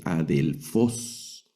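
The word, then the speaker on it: ἀδελφός: Esta otra palabra, vea, esta sí inicia con vocal, entonces tiene su espíritu, pero el acento está en la última sílaba. Esta palabra se lee adelfos.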